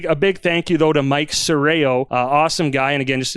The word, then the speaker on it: Serrao: His name is Michael Serraro. It is it's Serraro Occasion where Dustin gets his name right. Mike Serrao is our very first episode sponsor, and he's a contractor, construction guy, builds custom homes.